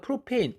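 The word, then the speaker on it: propane: 옛날에 이 ANE를 안으로 읽었는데 지금은 애인으로 읽어서 메탄, 옛날엔, 지금은 메테인 이런 거예요.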